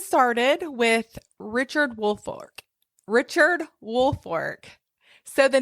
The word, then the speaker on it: Woolfolk: so let's get started with Richard Wolk Richard woolfork so the name is spelled Wolk but it's pronounced woolfork you know our our Southern um we like